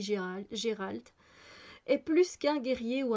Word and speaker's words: Geralt: Contre ces menaces, il faut un tueur à gages à la hauteur et Gérald ou Geralt, il y en a ça dépend, ils prononcent un peu différemment, moi je dis Gérald, est plus qu'un guerrier ou un mage, c'est un sorceleur.